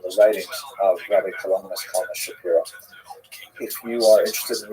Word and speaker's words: Shapiro: By the way, Rabbi Shapiro is uh is the common English transliteration of his name, although it really would have pron been pronounced Shapiro in Poland.